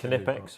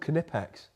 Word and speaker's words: Knipex: Is that from Knipex or Knipex?